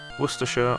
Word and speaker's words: Worcestershire: It's written Worcestershire, but Worcestershire or Worcester are both acceptable.